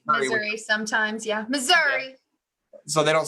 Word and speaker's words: Missouri: should it be like Missour or something like that how do you pronounce Missouri sometimes yeah Missouri so they don't say Missouri no Southerners say Missour is that how it work okay got it okay